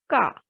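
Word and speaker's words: queue: Quee, k. The word will be read as k, meaning is tail.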